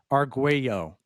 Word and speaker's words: Arguello: Arguello. Am I getting that right finally? There you go. I'm working on my pronunciations.